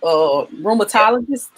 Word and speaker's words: rheumatologist: Rheumatologist.